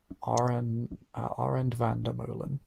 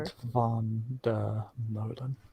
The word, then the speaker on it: Arend van der Molen: Arend van der Molen, which isn't really the proper rhythm one should use to pronounce that. Whatever. Arend van der Molen. There we go.